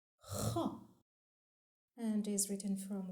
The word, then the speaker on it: خ: The seventh letter is pronounced Kha and is written from right to left on the line with a going down semicircle shape. Kha has one dot above.